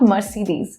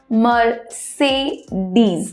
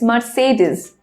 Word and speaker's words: Mercedes: loca course a Mercedes but it's not Mercedes its ma say these it's Mercedes so it will be